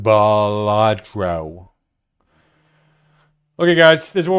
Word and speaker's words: Balatro: It's pronounced Balatro.